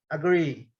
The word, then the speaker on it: agree: Esse A ele é pronunciado, esse é um som que nós vamos estudar também mais à frente, é o som do schwa. É um som que ele é utilizado para pronunciar sílabas mais fracas. Agree. O que interessa aqui mesmo, o forte mesmo, é a sílaba tônica forte mesmo, né? A stress syllable é o agree, ok?